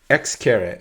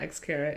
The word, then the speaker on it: Xcaret: X-caret. Is that how you say it? X-caret? X-caret. It's not X carat.